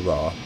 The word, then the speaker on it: RWR: of the ADI is the radar warning receiver or rwr pronounced raw this indicates what radar